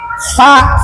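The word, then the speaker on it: ف: Cuman kalau lah menyebutkan huruf Arab maka barengi dengan angin fa dengan gigi kalau papa ah itu apa kurang pas.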